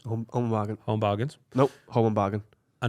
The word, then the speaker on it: Home Bargains: I just went to buy some medicine from the Home and Bargains. Home and bargain. Home Bargains.